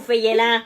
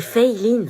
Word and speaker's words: Feyelin: Elle est où, Feyelin? C'est Feiline. Feyelin. Feyelin? C'est Feiline. Bah, c'est écrit Feyelin. Oui, mais ça se prononce Fei, c'est américain en fait. Et Line parce que c'est asiatique.